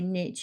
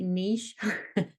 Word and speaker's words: niche: love the fact that the Americans say Niche and England we say Niche yeah that's like a